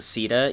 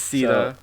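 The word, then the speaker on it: Caeda: I think in Heroes they pronounce it Sita, even though it's C-A-E-D-A.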